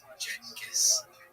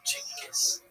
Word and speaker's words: Genghis Khan: The name has quite a few pronunciations: Genghis, Chingis, Genghis, and depending on language and history, they're all acceptable.